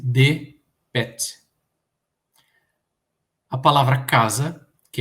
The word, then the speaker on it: dpt: Então, por exemplo, a palavra barco, né, DPT, torna-se DPET.